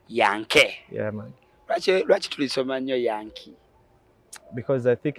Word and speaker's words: Yanke: nti Americans are called Yankees. Yankees over even football team yabwe agita Yankees, yeah. But the true pronunciation is Yankee, single E, not double E.